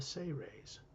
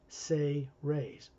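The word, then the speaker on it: Seres: Ambassador Terrellian is from a race, a human race called the Say Rays. It's spelled S-E-R-E-S, but it's pronounced Say Rays, S-A-Y-R-A-Y-S, like that, phonetically.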